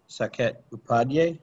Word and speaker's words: Saket Upadhyay: Our speaker is Saket Upadhyay.